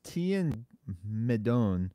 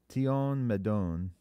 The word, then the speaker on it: Tion Medon: Who's Tian Medon from Star Wars? Tion Medon. It had to be an alien, right? Yeah, spell it for me.